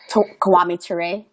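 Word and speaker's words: Kwame Ture: re is that how you say it uh kiwami toure there you go uh he said it so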